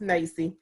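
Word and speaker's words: NAEYC: So the National Association for the Education of Young Children, which some people pronounce as NACE, is the largest professional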